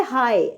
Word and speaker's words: high: सबसे पहले हाई, HIGH, इसकी स्पेलिंग HIGH हाई होते हैं, लेकिन एंड वाले जो GH है ये साइलेंट हो जाता है, तो इसको हाई पढ़ते हैं, सिर्फ H और I।